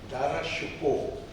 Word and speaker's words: दारा शिकोह: आप दारा शिको कहते हैं लेकिन उसका सही उच्चारण है दारा शिको।